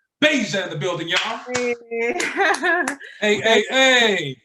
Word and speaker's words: BVEIJAH: Some people may pronounce it BVEIJAH, whatnot, but it is pronounced BVEIJAH.